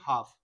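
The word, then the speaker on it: half: हाफ ऑफ my kingdom, इसमें L silent हो जाता है, इसको बोलते हैं हाफ, हाफ हाफ ऑफ माई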